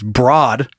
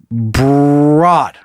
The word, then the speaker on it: Broad: I read ahead, it's Broad. If you aren't familiar somehow with this real estate mogul, it's pronounced Broad, like road. Oh, sorry. Broad, not broad, with a B.